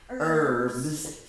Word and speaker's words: herbs: he had herbs but we don't say the H we say herbs okay and today we're